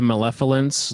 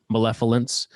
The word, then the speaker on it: malevolence: It kind of showcases how Malevolence. Am I saying it wrong? You're kind of saying like F with the V. It's malevolence.